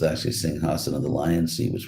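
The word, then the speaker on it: सिंहासन: the lion seed uh pronounced sometimes in the west as sing a song somehow or other but it's actually sing hassan of the lion see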